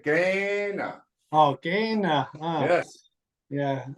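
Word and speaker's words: Kainai: Kai Nai, No, Apatu not kinda, I Picani. say kinda. You say Gaina.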